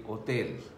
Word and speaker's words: hotel: Like hotel will be same, it will be written same, but it will be pronounced differently, with H being silent, so it would be hotel.